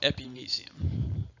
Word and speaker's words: epimysium: to do here is some people pronounce it epimysium that's if you will I was always taught epimysium also a superficial